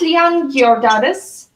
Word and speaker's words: Liane Giordades: Gunnar Stefansson, he's the professor at Iceland University, and Liane Giordades.